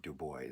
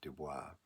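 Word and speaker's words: Du Bois: Um I think there's a moment in Dubo web Dubo um and just incidentally he pronounced his name Dubo not not Dubois um where he um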